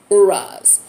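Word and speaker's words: Uruz: The pronunciation looks like OO-RAZ. Uraz.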